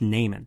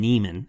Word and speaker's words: Neiman: It's pronounced Naiman. This is important because Fletcher specifically later on in the script calls him Neiman instead of Naiman.